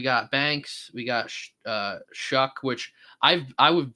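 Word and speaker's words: Shough: And I guess he came out and said like it's pronounced Shuck. And I was like, okay. So, his name's Tyler Shuck.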